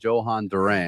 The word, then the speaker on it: Jhoan Duran: Uh but we're going to go with Johan Duran.